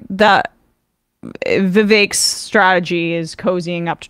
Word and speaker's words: Vivek: I guess Trump and Vivek uh rhymes with cake ramaswamy have a bit